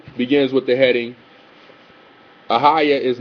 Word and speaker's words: Ahayah: Ahayah is how it's pronounced and how it's written in the JPS Tanakh.